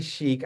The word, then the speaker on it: Schiek: Kasona Coaching, Sheik.